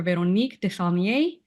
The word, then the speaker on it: Véronique Desaulniers: Véronique Desaulniers. Is that the correct Very pronunciation?